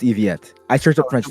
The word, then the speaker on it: Yvette: It's pronounced Eviette. I searched up French names for this. Trust. Yvette? No, not Nouvellette. Yvette.